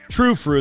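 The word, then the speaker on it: Tru Fru: True Fru, that's T-R-U-F-R-U. They've got the little umlauts over the U, so you know that you're supposed to pronounce it with that ooh noise.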